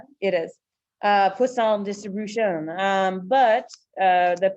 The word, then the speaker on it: poisson: poisson distributions all right we all get to say it right yes it's like it's like a croissant right it is uh poisson distribution um but uh